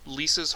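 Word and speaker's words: Lieca: a place that was once called Lisa's hold and Lisa is spelled really weird it's l i e CA okay and I mean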